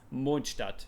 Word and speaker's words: Mondstadt: And yes, I pronounce it Mondstadt because that's how it is pronounced. It's Mondstadt.